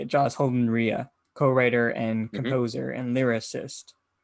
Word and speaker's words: Holden-Rea: Joss Holden-Rea, co-writer and composer and lyricist for Stuff, the short taxidermy musical inspired by a German cannibal.